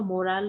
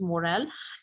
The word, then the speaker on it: morale: it is actually a morale booster uh why it's a morale and student this pronunciation is not moral like we have moral stories this is morale and it means like